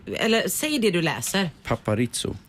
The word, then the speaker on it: Paparizou: Paparizzo. Eller det är inte Paparisso då, utan... Alltså, i Sverige så uttalar vi ju inte Z, vi säger zebra, eller hur?